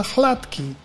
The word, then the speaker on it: Hladký: Yeah, you already pronounced my name correctly. Hladký is maybe hard to